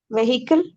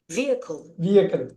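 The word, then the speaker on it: vehicle: வெஹிக்கிள். அது அப்படி படிச்சிடக்கூடாது. என்ன முக்கியம்னா இதுல அவங்க வேற மாதிரி தான் படிப்பாங்க. நல்லா பாருங்க, வியக்கல். இந்த ஹெச்ச தூக்கிடுங்க, அப்ப அவங்க படிக்கிறது உங்களுக்கு புரிஞ்சிடும். அந்த ஹெச் வந்து சைலண்ட்.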